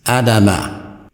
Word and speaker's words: Adam: The pronunciation then becomes Adam, as the scholars give it in their literature. But this is not the pronunciation given in the Quran. In the Quran, it is given as Adama. Every time you see it, you're going to see Adama, which, as I have stated, is a verb.